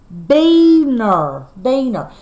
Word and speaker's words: Weiner: Weiner is Carolyn Weiner's husband, and their last name is pronounced, oh my gosh, I've been saying it wrong, but I did the best I can. It's called Beaner.